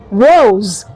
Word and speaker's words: rose: pronounced as s, but in some cases the letter S has the z sound. Okay, we have examples in words like music, rose. Okay, so r o s e is not rose, it is rose.